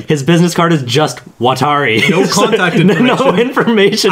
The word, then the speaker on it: Watari: did you do with Wattori?" They couldn't even pronounce the name right. Also, did they not? It was Wattori. Also, his name was just Watari.